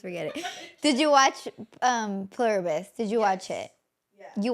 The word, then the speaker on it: Pluribus: Pilibris? No, Pluribus.